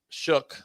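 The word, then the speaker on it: Shough: And then we're gonna see the youngster Tyler Shook, whatever you pronounce his name.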